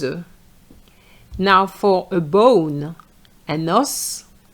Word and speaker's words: os: enough des œufs Now for a bone un os des os un os So the S is pronounced. But for the plural it's silent.